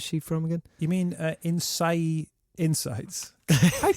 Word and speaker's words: Innsaei: You mean Innsaei Insights? I pronounced it correctly.